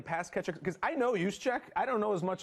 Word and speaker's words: Juszczyk: Juszczyk. I can't pronounce it.